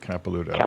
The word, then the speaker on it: Capelouto: u t is in tom o okay capilouto okay yeah very good and um i don't